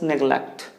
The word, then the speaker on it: neglect: or what do we say so the right pronunciation is neglect neglect so either with the and there shouldn't